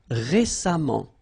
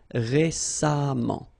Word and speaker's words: récemment: So as I told you, even if you write it E-M-M-E-N-T, phonetically it goes like amant, patiemment. All right. Récent, same rule. Récemment, récemment, récemment.